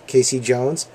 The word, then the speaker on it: Casey Jones: It is Casey Jones, just like the Grateful Dead song.